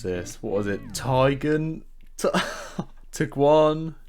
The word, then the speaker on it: Tiguan: The ID4 is an electric SUV and it looks very similar to the VW, I've never been able to pronounce this, what was it, Tiguan? Taygun.